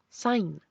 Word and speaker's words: sign: sea señora mientras que en inglés pasa que cuando está la g junto a la n esa g es muda como en champagn Sign señal Rain reinar design diseñar otra consonante que es